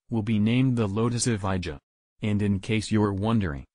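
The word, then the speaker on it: Evija: electric hyper car will be named the Lotus avaya and in case you're wondering Lotus says it's pronounced FIA the name means the first in existence or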